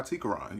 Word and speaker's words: Tequran: just gonna go by Tequran. You know, my name has 3 syllables, so I feel like it could stand alone.